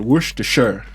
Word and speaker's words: Worcestershire: allergic to one of my favorite condiments called worcestershire that's how to pronounce it okay yeah what is that worcestershire